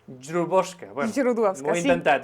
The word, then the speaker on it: Źródłowska: com es diu el teu cognom, com es pronuncia, vaja. És Źródłowska. Źródłowska, bueno, Źródłowska, ho he intentat, eh?